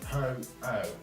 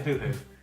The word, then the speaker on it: Ho-Oh: It took me about 3 years before I could pronounce it properly. Ho-Oh. Yeah, I kept saying hoo-hoo.